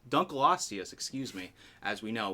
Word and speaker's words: Dunkleosteus: fossil fishes there this is the first one doc Lanka Dunkleosteus excuse me as we know was a placoderm